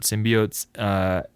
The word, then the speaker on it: symbiote: It's kind of hard to keep track of all the different symbiotes. Or did we had this conversation last time about how to pronounce this word?